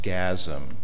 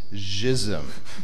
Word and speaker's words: Jism: It's actually a Creole, French Creole name. It's not pronounced gasm, which is somewhat offensive. It is jism. That's how it's pronounced.